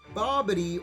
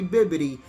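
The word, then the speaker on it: Bibidi: duration of the turn so bobbidi or should I say baby I think I have been pronouncing him wrong it's actually bibbidi this guy is for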